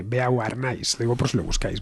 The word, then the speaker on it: Beauharnais: ¿Cómo se pronuncia esto? A ver, hoy tenemos una lección acelerada de francés. A ver. Bormé. Uh-huh. Eso sí, ahí ya me has pillado, Alberto. Borné, Beauharnais.